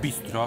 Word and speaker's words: Bisztro: Jedzenie w Budapeszcie zaczynamy od miejsca, które nazywa się Retek Bistro. Pisane bistro, no bo esz w języku węgierskim czyta się jako s, a s jako esz.